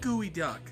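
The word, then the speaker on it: geoduck: You said gooey duck. Why would you say it's pronounced gooey duck if you said gooey duck?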